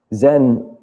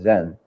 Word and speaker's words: Zen: from Japan in fact Zen is just the Japanese pronunciation of the same Chinese character Chan which we have in